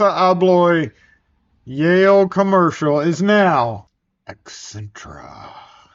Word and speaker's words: Accentra: Yale Commercial is now Accentra. Accentra. ASSA Abloy Accentra. AAA. Oh, that name's taken. I'm pronouncing it like that because there is a Hyundai accent.